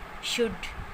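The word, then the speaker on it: should: आता है या एल के बाद जब डी होता है तो वो एल साइलेंट होता है वहाँ पर। For example कुड, शुड, वुड। तो यहाँ पर एल के बाद डी है और ये एल साइलेंट है, ये अब ये प्रोनाउंस नहीं किया जाएगा।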